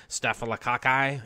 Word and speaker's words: staphylococci: us most of us have staff on us staphylococci if you want to say it correctly we're